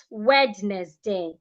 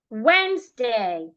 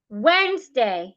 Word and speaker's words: Wednesday: zed listen not listen when day not wedness day Wednesday Wednesday not wedness day receipt